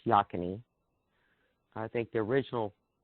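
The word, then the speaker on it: Yocona: a place it's called spelled yo canna but pronounced yakin II I think the original pronunciation was yo canna but that changed over the years me and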